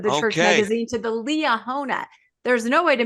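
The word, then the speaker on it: Liahona: the name of the church magazine to the Leah hona there's no way to mispronounce that if you're LDS oh very good elah hona I said if LDS this this right this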